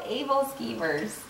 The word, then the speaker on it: aebleskivers: Yeah, these are called Ablekeevers. Yeah, at least that's how my family pronounced it.